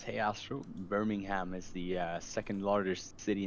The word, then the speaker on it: Birmingham: Combi user says, "Hey Astro, Birmingham is the second largest city in the UK. It's pronounced by Birmingham.